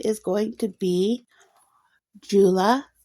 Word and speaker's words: Tsula: Her name is going to be Jula. And this is the Cherokee Jula. It's spelled T S U L A.